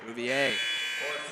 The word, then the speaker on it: Breier: personal bre or breier breier and so you say Brewer last season and then we're like wait a minute that's not how you say his name if you didn't know